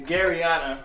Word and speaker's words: Garryana: but this is the fourth edition of westland's garianna i am i saying it right i hope you're saying the garriana which is arianna ariana gary yeah it's a